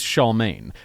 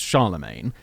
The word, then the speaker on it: Charlemagne: Charlemagne yeah you know the correct pronunciation on that is Shaw main but everyone thinks it's Charlemagne and so I did